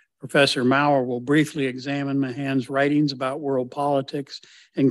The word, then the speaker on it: Mahan: to speak as John said about Alfred Thayer Mahan that's the correct pronunciation he told people that's how you pronounce